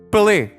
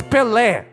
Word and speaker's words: Pelé: But our Americans say Pelé. Why do you say Pelé? It has an accent. At the end of the word, it has a symbol. It's Pelé. It's like French, you know?